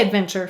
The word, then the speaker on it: adventure: adventure go actually say adventure first how many syllables three now do you hear the chur that is an assimilated sound again so listen carefully